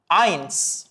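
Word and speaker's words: eins: എന്നതിന് നുൾ എന്ന് പറയും വൺ എന്നതിന് ജർമനിൽ പറയുന്നതാണ് ഐൻസ് ഐൻസ് നുൾ ഐൻസ് നുൾ ഐൻസ് ടു എന്നതിനെ ജർമനിൽ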